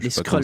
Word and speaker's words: Skrulls: combattre les skrulls où les skrulls l'escale ça se prononce qui sont des vilains